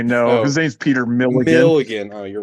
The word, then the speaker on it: Milligan: Is his name a reference to Peter Mulligan?